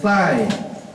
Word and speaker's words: thigh: My thigh, T-H-I-G-H. Chữ đọc là thigh, đọc với tôi, thigh.